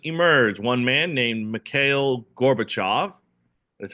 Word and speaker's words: Gorbachev: One man named Male Gorbachev. That's how you pronounce it. Gorbachev.